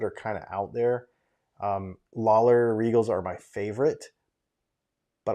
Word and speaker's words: Lollar: That's not how you say Lawler, is it? It's not how you spell it, but that's how you say it.